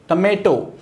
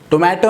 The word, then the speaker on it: tomato: अगला है टमेटो। टोमेटो हम कहते हैं बट इसका राइट प्रोनाउंसिएशन क्या होगा? राइट प्रोनाउंसिएशन जो है वो है टमेटो।